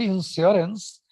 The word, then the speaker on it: insurance: So in that word insurance, if you are independently speaking that word, it sounds like the second syllable is stressed.